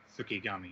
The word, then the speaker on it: Fukigami: Fukigami, yeah.